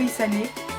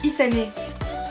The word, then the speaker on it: Isane: Et voilà, je trouve ça trop beau, Isane. Donc ça s'écrit Isan, mais ça se prononce Isane.